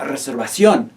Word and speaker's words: reservación: La reservación. La reservación. Again, be mindful of that written accent mark over the O. Make sure that's the syllable that you stress.